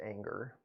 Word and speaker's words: Enger: Marie, Enger. Pronounced anger.